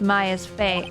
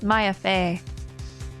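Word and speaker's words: Maya Fey: also accept the verdict of guilty for Miss Ma's Fay. M I keep Why do I keep mispronouncing her name? Miss Maya Fay.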